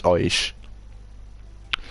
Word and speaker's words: Oish: Oish. Oish. I'm pronouncing your name right, aren't I? It's Oish.